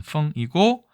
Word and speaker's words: 丰: 발음은 펑이고, 보세요.